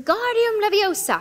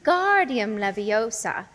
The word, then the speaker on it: Wingardium Leviosa: much more luck when guardium Leviosa he shouted waving his long arms like a windmill you're saying it wrong Harry heard Hermione snap it's when guardium Leviosa make the gar nice and long you do it then